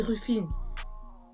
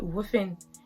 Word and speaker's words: Rufine: Mais au States, ils vont dire Wuffin. C'est pas la même chose. Donc, mon prénom, en vrai, je m'appelle Wuffin. Wuffin. En fait, c'est trop bizarre de dire Wuffin. Parce que j'ai l'impression que je prononce pas le R, je prononce que le U. Mais en fait, je prononce le R.